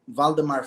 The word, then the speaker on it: Waldemar: It's It's called Find Your Wild Flow by by Voldemar. My my name is spelled W A Lde M A R.